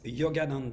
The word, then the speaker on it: Yogananda: even going to pronounce his name can you pronounce the name for me Michelle yes the name of the show is Yogananda dance it's a musical to celebrate Yogananda the